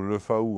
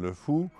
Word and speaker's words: Le Faou: Et celui qui arrive en Bretagne et qui prononce Caden au lieu de Cadin ou le faou au lieu de le fou perd toute chance de